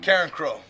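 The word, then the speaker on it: Carencro: Karen Crow. It's like Sheryl Crow's little sister, except she's the dirty one.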